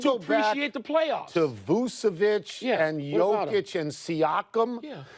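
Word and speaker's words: Vučević: Did you say Vukovic? Vucevic. Get the pronunciation. Vucevic.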